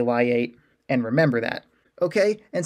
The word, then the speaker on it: LIATE: that we can say liate instead of why yet right it's a little bit easier to say lie eight and remember that okay